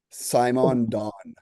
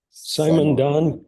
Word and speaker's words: Simondon: Maybe I'll just pronounce it different for the spelling. So Mark, it's just Gilbert Simon Don. Gilbert Simon Don Gilbert.